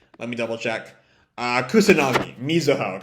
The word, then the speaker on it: Mizuho: if the writing, if Mizunagi wants to. Right, Mizunagi is the author's name, I think. Let me double check. Kusanagi, Mizuho. Got the first two syllables of her given name mixed up.